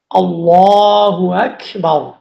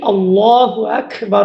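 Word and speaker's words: الله أكبر: আল্লাহু আকবার। এটা সঠিক উচ্চারণ হচ্ছে হামজা লাম জবর আল লাম খারা জবর লামের উপরে একটা খারা জবর আছে এক আলিফ লম্বা করে পড়তে হল আল্লাহু তারপর হামজা কাফ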